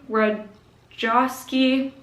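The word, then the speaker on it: Ratajkowski: book i read was my body by emily rod joskey that's how you say it i think i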